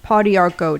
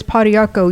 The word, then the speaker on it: pau d'arco: Um, so we are going to talk about pau d'arco tonight. And that's the nutritional tip. And it's spelled p a u space d with a little What is that?